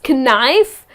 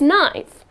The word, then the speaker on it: knife: the correct pronunciation is nice and I kept wondering why is that well that's English so again the letter K here is silent and the correct pronunciation